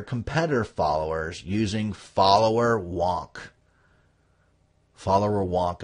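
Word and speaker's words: Followerwonk: followers using follower wonk follower wonk is spelled fo l l o w e r w n k like Wily Wonka learn from them and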